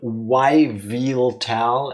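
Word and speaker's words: Yveltal: I like to pronounce the YV in Yviltal as the EV in evil, since evil is the archaic spelling of evil.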